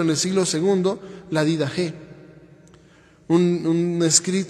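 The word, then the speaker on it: Didache: el siglo segundo la did G un un se escribe did Che y se lee did G en griego y es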